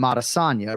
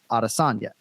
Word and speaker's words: Adesanya: Israel adesanya right and we call him arasanya right but if I was to go up to his sister it's Deb Des on you it's not adasanya and I'm not gonna